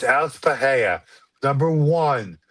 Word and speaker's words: Pereira: It's It's Alex Pereira. Number one, it's just how it's how one says it. Number two, in Brazilian Portuguese, the R's are pronounced as H's.